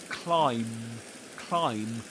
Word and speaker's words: climb: Climb. Just like the word comb for example. You know what you use for your hair? If you've got hair, I mean when you do have hair, um, use a comb to comb it. So comb comb in comb the B silent too comb comb and this one is climb climb. But as the story is